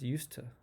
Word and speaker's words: used to: first reason is that we delete the d sound when it is surrounded by consonants so for example blind